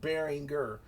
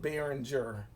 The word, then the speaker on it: Behringer: Behringer, really, it's actually pronounced Behringer. I don't know how we somehow miraculously changed the G to a J sound to call it Behringer.